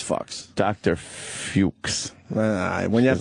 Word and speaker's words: Fuchs: That's close to fucks. Yeah. Did he spell it fucks? Let's be honest. It was a woman. She was like a Nazi. Was it F-U-C-H-S? Yeah, it was F-U-C-H-S. That's fucks.